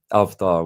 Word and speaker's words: avatar: Um, avdar would be the correct pronunciation of it.